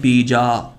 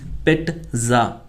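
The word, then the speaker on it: pizza: काफ़ी बार मैंने देखा है कि बहुत सारे स्टूडेंट्स इसको प्रोनाउंस करते हैं पिज़्ज़ा. इट्स नॉट पिज़्ज़ा, इट्स पिट्ज़ा, पिट्ज़ा, पिट्ज़ा, पिट्ज़ा, पिट्ज़ा, पिट्ज़ा, पिट्ज़ा.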